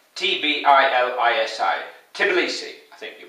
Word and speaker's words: Tbilisi: Tbilisi, I think that's how you pronounce it. It's spelled T-B-I-L-I-S-I.